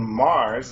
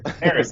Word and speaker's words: Mares: Welcome to the Primal Show with your host, myself, Heath Squire, and today we have Mars. Is that pronouncing it right? Yeah, Maris? yeah, it's married. Maris? Maris.